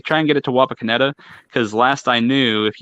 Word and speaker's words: Wapakoneta: Wapakoneta. Wi-Fi? Wapakoneta. Wapakoneta. Okay. It's Nito. Wapakoneta. Like it's Nito.